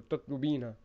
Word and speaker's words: تطلبين: And remember, when you're using the singular feminine, you put you keep ta at the beginning and you add the ina sound at the end. So tatlubina.